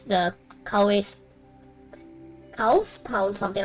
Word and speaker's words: Cowes: It's the Cowes Town, something like that. I don't know how to pronounce it. Cowes.